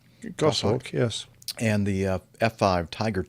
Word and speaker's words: Goshawk: Is that the way you pronounce that? Goshawk? Goshawk, yes.